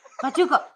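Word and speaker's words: pachuco: Bachucho. Bacho. Bachuko. Pachuko. That's the way you pronounce it.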